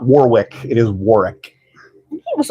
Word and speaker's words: Warwick: Warwick. And Mr. Davis's first name is pronounced Warwick. You do not pronounce the second W. Everyone says Warwick. Yeah. It is not Warwick.